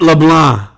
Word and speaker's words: LeBlanc: Don't pronounce the don't pronounce the N either. Matt LeBlanc. Matt LeBlanc.